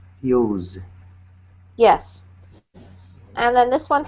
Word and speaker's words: Hughes: Normally I don't worry about names too much, but this is quite a common surname, so it's pronounced Hughes. Use.